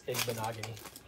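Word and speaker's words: Igbinoghene: Some people don't say it right, but it's Igbenogany. Igbenogany.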